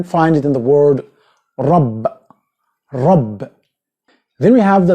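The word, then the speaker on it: راء: English, it's going to be er, which is not correct. You have to roll your mouth. Ra. Ra. Not ra. Ra. Ra. Okay? And you can find it in the word rab.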